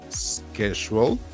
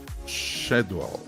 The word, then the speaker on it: schedule: The word schedule is pronounced with a in American English, schedule, and a sound in British English, schedule.